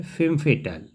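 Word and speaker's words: femme fatale: FEMMEFATALE, इसको pronunciate किया जाता है फेम फेटल।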